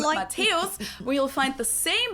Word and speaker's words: Matthäus: mentioned the name Mäuse, Matthäus, where you'll find the same letter combination, but in this case, it's not considered a Matthäus. diphthong, but rather two separate syllables, so it's pronounced Matthäus here instead Matthäus.